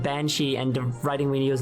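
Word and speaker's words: bean sídhe: Oh, so you're saying that Beansea is the Gaelic written in the Latin alphabet, but not at all how it's pronounced. It's pronounced Banshee, and the writing we use nowadays is just...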